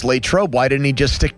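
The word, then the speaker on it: Latrobe: I think the more professional sounding way is Latroe. But I Lancaster. What if Arnold Palmer thought that's the way it should have been pronounced? Late trobe.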